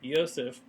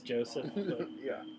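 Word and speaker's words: Josef: then Yosef that's right Yosef was two years old and he was the son to Victoria now Yosef is spelled with a J so it tells Kentucky folk it's Joseph and then the there was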